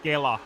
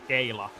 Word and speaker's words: Kela: keep mispronouncing names, but as a Finn, I must say it's Kela, not Kayla, because Kayla means a cone, and that's also often said to someone who is a bit simple.